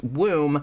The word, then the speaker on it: Woom: the book which is womb and actually this is the title is actually kind of genius because it's spelled w-o-o-m like it's room but with a w but then it you